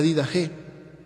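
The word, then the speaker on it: Didache: el siglo segundo la did G un un se escribe did Che y se lee did G en griego y es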